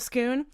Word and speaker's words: Scone: the scone of scoon but skoon is spelled scone scone scone or scoon yeah so anyway everyone says scone and I will not say scone so he he's like